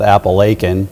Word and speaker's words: Appalachian: in our area called Appalachian. Yes. And everyone wants to make sure that you get the strong CH in there for Appalachian.